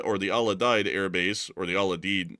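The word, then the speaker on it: Al Udeid: And it's the actually the Aladed air base at least from what I've been able to hear on the proper pronunciation.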